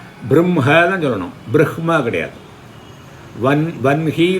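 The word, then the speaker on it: वह्नि: வன்ஹி தான் உண்டு, வஹ்னி கிடையாது.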